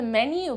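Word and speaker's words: menú: are spelled almost identically the only difference is that in spanish that last u has tilde or a spelled accent mark which indicates that we must emphasize that syllable can i have the menu please number 10 television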